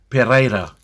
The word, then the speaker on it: Pereira: The way I would pronounce Rosalie's last name, rolling the R's, would be Pereira.